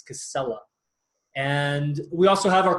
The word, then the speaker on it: Casella: and two else but not pronounced Spanish like casaya it's Casella and we also have